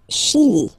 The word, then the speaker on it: Chili: Le Chili. Le Chili. Okay, remember, C-H, sh, sh, sh, sh. Okay, chi, Chili, le Chili.